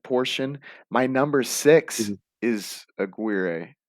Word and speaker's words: Aguirre: my number six is aguirre or how do you say it a gear a gear i think yeah i think that's i like that pronunciation better than mine it was the first